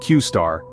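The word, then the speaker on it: Q*: about a groundbreaking AI enigmatically named Q asterisk pronounced qar have been Making Waves closely tied to a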